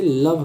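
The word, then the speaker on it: love: अब यहाँ पे एक है लोभ, जिसे लव कहते हैं, इसके अकॉर्डिंग तो लोभ होना चाहिए बट इसे लव पढ़ते हैं, तो ये एक आपका एक्सेप्शन है।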